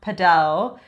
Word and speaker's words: padel: Originally, it's pronounced padel, but if you're saying it in English, I do think you sound obnoxious.